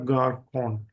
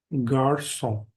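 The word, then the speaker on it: garçon: क का एंड सा तो अगर ये नॉर्मली अगर ये एक्सेंट नहीं है तो ये हमें स्पेलिंग में साउंड देगा गार कोन लेकिन अगर एक्सेंट है तो का को चेंज कर देगा सा में ग सो गर सो means boy and second example इसका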